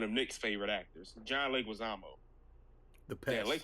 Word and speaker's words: Leguizamo: I was told, one of Nick's favorite actors, John Leguizamo. The pest. Yeah, we mispronounced Leguizamo, but he just started doing it because everybody it's supposed to be Leguizamo or something like that. I forget how he said it.